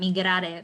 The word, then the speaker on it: Migrare: Migrare, that's how you pronounce it in Spanish.